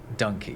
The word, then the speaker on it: donkey: Although, when he heard it, it was being pronounced donkey. When it came to putting it in his dictionary of the vulgar tongue, he thought, "Okay, A don- a donkey dick. like monkey because that's how it was spelled. Called donkey. But over the years, we've ended up pronouncing donkey donkey instead of dunky.